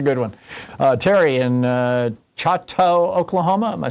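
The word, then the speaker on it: Chouteau: Uh, Terry in Chatau, Oklahoma.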